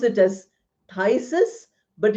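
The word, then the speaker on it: phthisis: this we have a disease called thyis we pronounce it as thyus but it's written with P.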